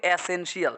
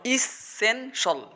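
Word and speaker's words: essential: আমরা তো বলি এসেনশিয়াল, না, শব্দ হচ্ছে ইস এসেনশিয়াল সেন সল, বলো ইসেনশল, ইসেনশল, মানে সঠিক উচ্চারণগুলো একদম ইংরেজি সবই ভুল, বুঝছো কিনা?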